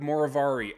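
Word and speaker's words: Moverare: I was trying to figure out how to pronounce it, and then I heard it and I thought of it like the villain in the Sherlock Holmes movies or TV show with Benedict Cumberbatch, Moriarty.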